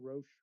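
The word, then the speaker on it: Roche: but they they've uh they're in partnership with Roach or is that how you say it? Roach.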